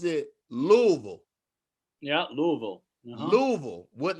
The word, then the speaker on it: Louisville: muhammad ali but of course yes but they pronounce it louisville yeah louisville what not even a veal like v-u-l-l louisville that's how they pronounce it so she's from